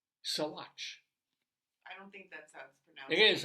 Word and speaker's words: Saguache: had no idea that it was pronounced this way it's s a g UA C H soat I don't think that's